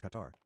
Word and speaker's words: Qatar: Katar is not pronounced cutter. It's pronounced Qatar. Qatar. Qatar. Katar. Katar. No, it's pronounced cutter. There's no vowels. If you pronounce it in Arabic, it would sound mostly like cutter.